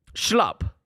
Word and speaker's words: Schlupp: Schlupp. It's really schlupp.